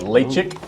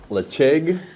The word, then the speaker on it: Ledaig: It's a Ledaig or Ledaig, depending on how you pronounce it.